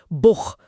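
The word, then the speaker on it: Buch: अगर ए ओ यू के बाद सीएच आता है तो उसकी ध्वनि गले से। ख जैसी होती है। जैसे बुख मतलब बुक।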